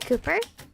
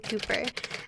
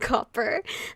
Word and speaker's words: Cooper: Willem hands a cup filled with poison to Cooper. As long as you aren't saying my name incorrectly, it's fine. Yeah, instead of like copper.